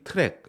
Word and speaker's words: Trac: 이제 도입해서 사용하게 됩니다이 트랙 trac인데 트랙이라고 읽어요 트랙은 이제 버그 트래킹